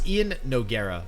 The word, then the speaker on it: Iannogueira: I always want to say it like one word. It's Iannogueira.